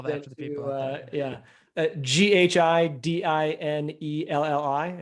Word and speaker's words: Ghidinelli: Ghidinelli. It sounds like the chocolate guy, but unfortunately I don't have his money. And then on Twitter, just my last name, Ghidinelli. So again, Ghidinelli.